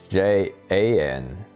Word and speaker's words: Jan: His name's John? Yeah. John. Can't resist. I don't know how. I mean, it spells Jan, but it's pronounced John.